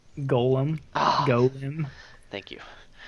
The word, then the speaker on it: Golem: Oh, it's not pronounced Gollum. What? How am I? Gollum is a character from Lord of the Rings. Golem?